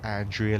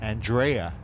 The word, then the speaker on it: Andrea: Although, should I give it the American pronunciation? Andrea Lee, isn't it? Rather than Andrea.